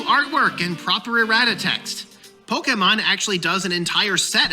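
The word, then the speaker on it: Pokémon: This guy gets my thumbs up, chat, just because he pronounced Pokemon right. He didn't call it Pokemon, Poke-A-mon. here.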